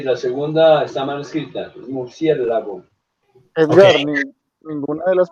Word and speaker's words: murciélago: segunda, murciélago, creo que sí está bien, es una palabra esdrújula, sí, creo que lleva acento en la antepenúltima sílaba.